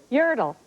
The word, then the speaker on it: Yertle: 1, I'm the name of the turtle in the 58 book whose name rhymes with turtle if you just take a look. Yertle.